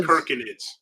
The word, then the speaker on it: Circinids: It's pronounced Perkinids. Perkinids. Yes, K instead of C. K. Instead of the C sound, it's the K sound.